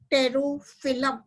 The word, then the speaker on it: Pterophyllum: तो क्वेश्चन आता है अगर विलियमसोनिया की पत्तियों के कूटवंशों के बारे में बताइए, तो पहला है टाइलोफिलम, दूसरा है टेरोफिलम, पी इज साइलेंट, PTEROPHYLLUM, टेरोफिलम।